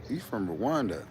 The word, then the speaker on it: Rwanda: We pronounce the R and the W separately.